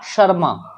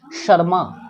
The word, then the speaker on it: शर्मा: SH जहां कहीं भी होगा तभी आप उसका उच्चारण श करेंगे ना कि स। तो जहां कभी भी आप SH पाओगे उसका उच्चारण तालव्य श होता है, क्योंकि SH का